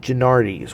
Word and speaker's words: Genuardi's: kind of simplify their name a bit and pronounce it gennardis which is how it's been a very um